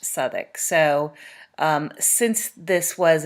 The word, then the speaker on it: Southwark: is an area in london and it is pronounced southik so um since this was an english family it is quite likely that they would have pronounced it southik not southwark uh and then also the john street theater